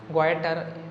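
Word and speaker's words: goitre: है बहुत ज़्यादा, तो उसको हम बोलते हैं ग्वाइटर बोलते हैं प्रोनाउंसिएशन।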